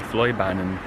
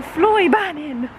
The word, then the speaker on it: Fløibanen: The Fløibanen. The Fløibanen.